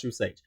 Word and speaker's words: True Sage: It's still pronounced True Sage.